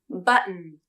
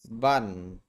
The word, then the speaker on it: button: In both cases, the D or T in the final syllable is changed. The D turns into an unreleased D and the T changes into a stop T. The vowel in the final syllable is omitted and the N turns into a salabic consonant.